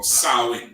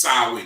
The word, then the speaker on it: Samhain: history of halloween have you ever seen uh samhain or salwin that's how it's pronounced sowing it's called sarwin's day that's the history halloween we're gonna go